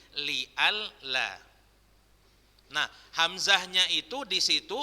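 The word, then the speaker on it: لئلا: Sebenarnya bacanya li'an la, berubah menjadi li'al la.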